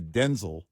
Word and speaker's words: Denzel: uh Denzel Washington, who by the way in a recent interview let everybody know we're saying his name wrong. I saw that his name is actually Denel, but his dad's name was Denel.